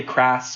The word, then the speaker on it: Kras: name is it cross it's it's sort of cross a lot of people say crass or some variation I'm not too picky with it I think even in my family there's a there's a division on how it's pronounced but I've always said cross so that's what I've